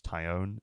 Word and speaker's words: Taillon: It's hard not to call him Jameson Taillon, but I think it's Taillon, isn't it?